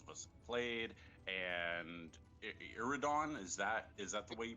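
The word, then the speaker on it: Iridion: Now I know that we have Mega Man 7, which most of us have played, and Iridon. Is that the way you pronounce that? Iridon 2, yep.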